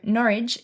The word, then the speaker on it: Norwich: I always struggle to know how to pronounce the names of some of these cities, but Mum was told that it has to rhyme with porridge. So Norwich is an old city and was once a centre for the textile industry.